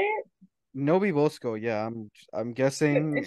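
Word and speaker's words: NoBeBoSco: Nobi Bosco, yeah, I'm An guessing if interesting name.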